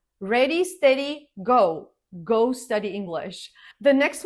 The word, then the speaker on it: Go: Most developers just say Go, same as the everyday verb. Ready, steady, go.